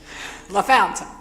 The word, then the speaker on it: La Fontaine: Looks like La Fontaine to me, but anyway, La Fountain. Got it. I I didn't want to say it wrong. I figured you had to be from here to pronounce it that way.